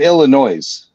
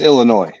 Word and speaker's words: Illinois: Yeah, but that's just like people say in Illinois. It's Illinois, but some people say Illinois. Yeah, because Granted, it is loud. Like you're putting your emphasis on the wrong syllable.